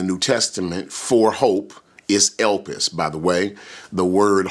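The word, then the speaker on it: ἐλπίς: And so the Greek word in the New Testament is elpis, E-L-P-I-S is the English transliteration, elpis. It's spelled just the way it sounds, E-L-P-I-S in English.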